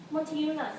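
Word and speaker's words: Motiejūnas: So how to pronounce his name? Montiunas.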